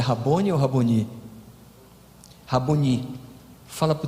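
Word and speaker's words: Rabboni: Qual é a pronúncia certa, Cardoso? É Rabone ou Raboni? Raboni.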